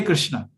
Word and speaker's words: कृष्ण: तो मेरे को ये कंफ्यूजन है कि कृष्णा है या कृष्ण है, रामा है या राम है? ठीक है, ठीक है। परफेक्ट प्रोनाउंसिएशन करना चाहते हैं, कृष्ण है, कृष्णा नहीं।